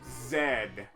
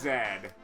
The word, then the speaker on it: zed: The letter Z is pronounced Zed. So, Zed rhymes with head over in the UK.